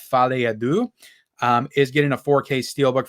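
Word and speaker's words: Folie à Deux: I think it's pronounced Fale Adu.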